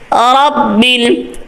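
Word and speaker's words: رب: গোল হবে না লিল্লাহি রব্বিল এখানে র পুর আছে রব্বিল আলামিন অনেকে রব্বিল আ রব্বিলে লে এই রব্বিলে বাউন্স খায় মানে কলকাল মত হয়ে যায় রব্বিল আলামিন আইনটা সঠিক অনেকের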